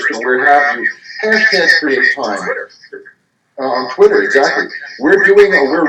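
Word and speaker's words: CRE8TIME: CHA Foundation, and that's Create Time. It's spelled CRE, the number 8 time.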